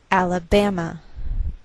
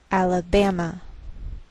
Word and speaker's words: Alabama: So the greater stress is on this third syllable. We say Alabama, Alabama.